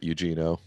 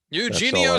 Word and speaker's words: Eugenio: okay thank you uh it's not eugeno eugenio suarez yeah eugeno suarez and